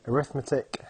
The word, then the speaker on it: arithmetic: in case anybody's wondering yes this word here does say arithmetic however when it's used as an adjective you pronounce it arithmetic so our first sequences